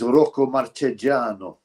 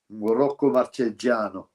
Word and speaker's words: Marchegiano: change their names to make it easily more pronounceable. Like Rocky Marciano is not Rocky Marciano. He's Rocco Marchegiano. Rocco Marchegiano.